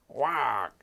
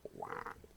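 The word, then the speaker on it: Waugh: Wag. That's how I pronounce W-A-U-G-H. Wag.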